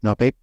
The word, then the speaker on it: Noah Pape: Did I say it right? Noah Pape? That is correct.